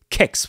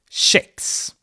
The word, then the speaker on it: kex: So, for instance, we have the word kex, which comes from cakes. It means cracker or cookie, and in Eastern Sweden we say kex with a hard K, but in Western Sweden we say kex with a more Swedish pronunciation, if you so will.